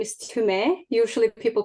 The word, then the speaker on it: Tumee: it so for your listeners my name is timay usually people pronounce it to me but it's to me